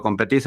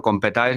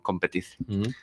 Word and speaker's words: Competize: Y el nombre justo, Competice o Competize, como se suele pronunciar para los no hispanohablantes, buscamos un nombre que fuera fácilmente castellanizable para que la gente lo entendiera. Entonces aquí todos nos decimos Competice.